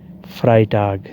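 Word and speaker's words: Freitag: जुमरा done stock जुमेरात फ्राई टाग जुमा फ्राई टाग जुमा जहां इकट्ठा ई और आई आ जाए वहां ई साइलेंट होता है और आई की आवाज आती है फ्राई टाग जुमा समग हफ्ता सम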